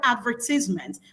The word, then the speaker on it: advertisement: However, for American English, you have the word on the penultimate syllable.